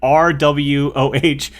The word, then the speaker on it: Rwoh: Her last name is like RWOH.